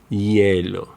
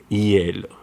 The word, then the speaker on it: hielo: Sometimes the letter H sounds like G when it comes after UE or IE, as in huevo, huevo, hielo, hielo.